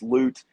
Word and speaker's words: Loot: It's his last name is spelled kind of funny, but it's Loot.